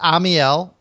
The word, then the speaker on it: Amiel: Okay, it's Amiel. It's Amiel. 3 syllables.